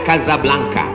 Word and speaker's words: Casablanca: Hasan II di kota Casablanca, ibu kota Maroko, tempat saya kuliah. Nama negaranya Maroko, ibu kotanya tulisannya Casablanca, cara bacanya Casablanca.